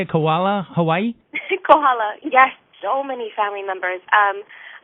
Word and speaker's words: Kohala: Kohala, yes, so many family members.